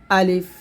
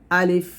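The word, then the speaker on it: ألف: চেষ্টা করুন আলিফ আলিফ আলিফ টান দিবেন দেখুন লাস্টে কিন্তু এখানে ফ আসছে পয় কিন্তু না আমরা অনেকে আলিফ বলি এটা না বলতে হবে আলিফ বা বা তারপর হচ্ছে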